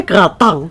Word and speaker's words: gratin: Jadi gratin itu bacanya gratang.